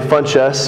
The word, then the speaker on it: Funchess: that one last name funchess which is ironic it's spelled fun and chess the game chess i don't play chess